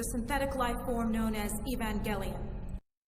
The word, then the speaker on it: Evangelion: Where's how to pronounce Evangelion? This is man's ultimate fighting machine, the synthetic life form known as Evangelion. Evangelion.